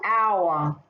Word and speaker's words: our: the next one oh our have another go here our now this one here don't forget the h again is completely silent so it's that heart